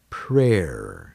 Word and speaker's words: prayer: may or may or prayer is another example where Y is silent prayer alright well that